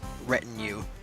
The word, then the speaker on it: retinue: It's retinue. Oh, retinue! I've heard that word before. That is French. I'm pretty sure that's French. Yeah, it's adapted from the French word retinue.